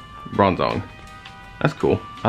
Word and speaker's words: Bronzong: Bronzong. Bronzong.